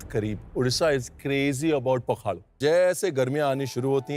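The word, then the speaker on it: Pakhala: पोखाड़ो जो है pronounced S पी ए के एच ए एल बहुत वर्ल्ड फेमस उड़िया डिश है जो मतलब उड़ीसा के दिल के बहुत करीब उड़ीसा इज क्रेजी अबाउट पखाड़ो।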